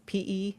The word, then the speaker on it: Pedersen: The Pedersen device, and that's Pedersen device, developed during World War I.